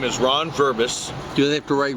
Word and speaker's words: Verbos: make it easy for them say your name spell it for people my name is Ron verbis do they have to write Ron or